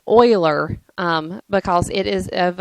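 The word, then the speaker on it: Euler: you have this formula it looks like uler but it's pronounced Oiler um because it is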